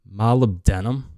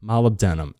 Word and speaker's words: molybdenum: go through these fast i'm gonna try this is spelled funny it's called molybdenum molybdenum m-o-l-y-b-d-e-n-u-m this is a mineral too we all